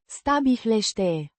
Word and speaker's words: stabilești: Pronounced Stabilește. with the stress on the second syllable.